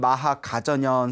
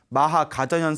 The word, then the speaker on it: 마하가전연: 그 마하가전연, 한문으로는 마하가전연 스님 불렸고 인도에서는 마하까짜야나, 마하까짜야나 스님이라고 불렸죠. 인도 발음하고 이제 또 중국 한문 발음하고 좀 틀리지 않습니까?